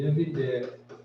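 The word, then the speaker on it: 葉: 이제 이거는 엽입사기라는 뜻을 쓰는 엽인데 그 땅 이름이나 성으로 쓸 때는 섭.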